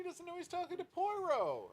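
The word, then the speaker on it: Poirot: A, he doesn't know he's talking to Puero or Puarro as he's frequently pronounced.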